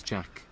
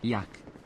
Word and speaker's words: Jack: need's a fanny pack my name is Jack but my grandparents cannot speak proper English so they pronounce it Yak Master Yak are you